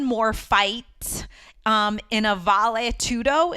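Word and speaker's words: vale tudo: fight um in a valet tudo is that how you pronounce it babe yeah Val tudo uh tournament and he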